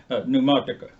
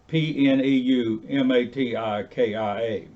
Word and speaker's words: pneumatika: The P is silent. Pneumatica. Pneumatika, which does not mean